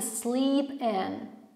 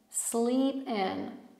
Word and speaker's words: sleep in: Zobaczcie, przy słówku sleep mamy długie i, a przy słówku in krótkie i, wymawiane bardziej jak y. Więc zauważcie. That you're trying to sleep in. Sleep in. Zupełnie dwa różnie wymawiane i.